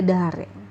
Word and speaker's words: だれ: Yang pertama ada dare. Ya, ini dibacanya dare.